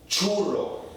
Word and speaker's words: churro: Or, in other words, when the C precedes the H, it changes the sound. Now, it gives permission for the H to sound normal. Like it would in English, like channel, right?